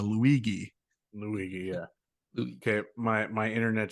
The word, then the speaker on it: Luigi: You've got to now, hard G that the Luigi.